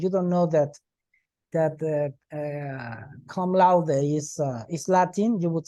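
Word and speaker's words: cum laude: you last semester a friend graduated laude University come loud well if you if you are an American or English speaker and you don't know that that come louder is Latin you would say come Lord come lock yes but it's come loud yes because it's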